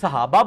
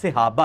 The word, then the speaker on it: صحابہ: باعث بنے گی۔ اچھا، یہ لفظ لوگ صحابہ بولتے ہیں، صحابہ لفظ نہیں، لفظ صحابہ ہے، سواد کے نیچے زیر ہے۔ اب کئی ایسے جاہل